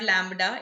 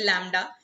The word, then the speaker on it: lambda: लैम्बडा, of course it इज नॉट लैम्बडा, इट इज लैम्बडा. ठीक है. बी is silent.